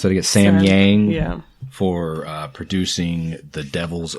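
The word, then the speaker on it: Samyang: So thank you, how do you pronounce that again? Sam Yang.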